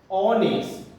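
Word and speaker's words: honest: এইচটা কিন্তু এখানে সাইলেন্ট, আমাদের ফার্স্ট সাউন্ডটা কিন্তু আ আসছে। Hour, অনেস্ট, অসাউন্ড, honourable.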